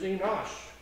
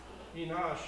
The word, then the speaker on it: Enosh: genealogy his name is enosh enosh and it's looks similar but it's pronounced differently it doesn't have the head at the beginning it has the olive as the first letter so anyway we'll talk